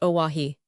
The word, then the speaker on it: Oahu: I named him after this island, Oahu, pronounced Oahi.